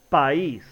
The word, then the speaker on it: país: encontramos con que la y lleva una tilde por lo tanto se separan y forman dos sílabas diferentes y se pronuncia país de lo contrario se tendría que producir país y eso no es lo correcto día una vocal cerrada